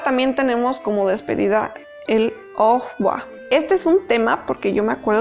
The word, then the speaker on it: au revoir: Y no, resulta que como está escrito con B chica, nosotros tenemos que pronunciar como si fuera una F. La pronunciación en francés para la V es más como una F.